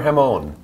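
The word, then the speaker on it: jamón: can I offer you some more jamon?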